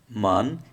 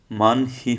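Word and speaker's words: 많이: ছিল, তাহলে হিউত ইহি, মান হি হওয়ার কথা ছিল, কিন্তু মান হি না হয়ে হিউতের পর ইয়ং আসার কারণে হিউতের উচ্চারণটা হবে না। সুতরাং কী হবে, মানে, মানে অর্থ বেশি, মানে অর্থ বেশি।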